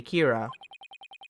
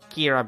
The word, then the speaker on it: Kira: It's like the same thing that in Death Note where Kira is called Kira because that's what it sounds when you pronounce it in Japanese.